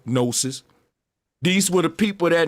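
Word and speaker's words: gnosis: root word of no they used to spell it GN o nosis these were the people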